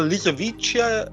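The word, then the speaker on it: Lisowicia: the world things like lisovisia or stuff like that. Yeah. Well, lisovichia I think that's how you pronounce it. Yeah. Yeah, you are correct.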